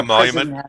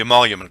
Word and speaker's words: emolument: about four years ago the monument the monument what the emolument clause yeah yeah and uh